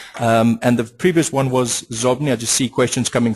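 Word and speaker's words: Xobni: And the previous one was Zobni. I just see questions coming through. Shane, that's spelled X-O-B-N-I.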